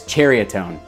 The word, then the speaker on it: Ceriatone: while i owned a seriatone or chariotone seriatone cheriatone there's always a debate on how it's pronounced but i believe that nyx said that it is cheriotone i've owned the cheriotone